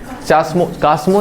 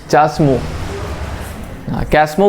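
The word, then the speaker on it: chasmogamous: जमीन के ऊपर होगा उसको बोलेंगे चाम कामो नहीं चस्मो कसमो बोल सकते हो चाम हा तो जो मन करे स्पेलिंग याद रख लेना कमोम जो बोलना बोलो अब देखो इसमें होता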